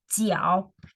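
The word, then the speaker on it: 脚: have this so this pronounces as tiao g-e-o-g-o also third point you go down first and then you go up so that's the foot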